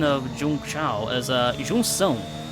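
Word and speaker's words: Junção: the correct pronunciation of jung chao as a jung song like we're gonna try to pronounce it in portuguese it's pronounced jung song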